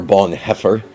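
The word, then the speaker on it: Bonhoeffer: uh Reflections from dietr Bon Huffer or Bon heffer as it's more correctly pronounced this is a compendium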